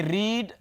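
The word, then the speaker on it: read: तो एक जैसे हैं तो भाई मैं आप लोगों को पहले भी बता चुका हूं की रीड रेड और रेड ये तीनों वर्ब्स स्पेलिंग एक जैसे हैं लेकिन जब आप इसको सेकंड फॉर्म या थर्ड फॉर्म इस्तेमाल करते हैं तो इसकी प्रनंसीएशन बन जाति है रेड रेड होना चाहिए अच्छा जी लास्ट बट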